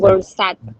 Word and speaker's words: Goursat: La definición de función más difundida hoy en día fue propuesta por el matemático francés Edward, ¿sabe cómo se pronuncia? Goursat, tal cual como está. Goursat.